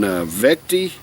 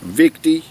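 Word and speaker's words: Vichte: is brewed there in veti Belgium I think that I think that's how you pronounce it ve V victy might be victy v i c h t victy Belgium is where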